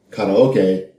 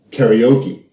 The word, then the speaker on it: karaoke: it just like you call karoke karaoke but that's how you say it properly or more properly at